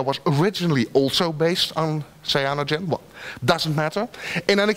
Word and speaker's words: Cyanogen: I'm not sure how you pronounce it, but I'll pronounce it Cyanogen.